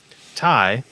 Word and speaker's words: ty: Anyway, Ty, I think I'm pronouncing it Ty. I don't know how it's supposed to be. I've asked Charlie Marsh. It's Ty. No, wait. Okay. No, it's T? TY. TY. It's TY. Okay.